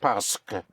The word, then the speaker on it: parce que: In spelling, it's spelled P-A-R-C-E, Q-U-E in 2 words, parce que. Parce que. But in speaking, think of the S in the park, parce que.